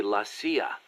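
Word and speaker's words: la CIA: Around here they say lasa instead of CIA. Huh? Um, nothing strange about it. That's how it's pronounced when you read it in Spanish.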